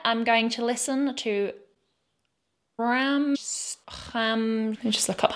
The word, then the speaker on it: Rammstein: It's an ST, but it's CHT.